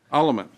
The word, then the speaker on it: Alleman: Alleman, you said it right. Oh, I did. Oh, cool. Alleman.